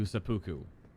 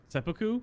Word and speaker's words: seppuku: you you seppuku'd yourself to sepuku sepuku that's how you pronounce that word okay so we did